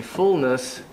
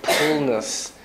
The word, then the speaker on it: fullness: He was trying to say fullness, but it sounded like pullness because of the P and F problem, and Koreans are not